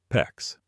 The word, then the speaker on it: PEX: PEX rhymes with flex.